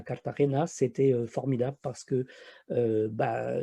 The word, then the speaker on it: Cartagena: des Indes, c'est, bah, elle est appelée là-bas, Cartagena si je prononce, correctement et c'est une magnifique